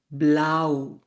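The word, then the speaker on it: blau: এটা হচ্ছে ব্লু colour. কালারের রং। ব্লু বা বি বে এল আ উ ব্লাউ আও দেখেছেন সো আই যখন থাকবে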